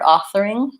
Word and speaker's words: authoring: close succession and then just make sure you also have an boom and ng sound at the end authoring often there's accent air patterns for ng or people will say it more like an N or an NK authoring you don't want any G or K sound on